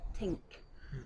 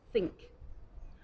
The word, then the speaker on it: think: of think the common mistake is to say tink I think we need to say think another example is for the word 30 30